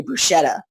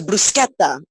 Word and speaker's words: bruschetta: it's in you know in America they say bruschetta he's like oh no it's buscetta and I said so